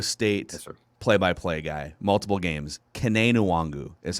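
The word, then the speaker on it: Kene Nwangwu: to the iowa state play-by-play guy multiple games kane nuwangu is how they pronounce it along iowa state and that is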